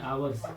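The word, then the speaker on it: hours: घंटे से फर टू आवर्स नहीं आवर्स एक साइलेंट है आवर्स य ठीक है उसके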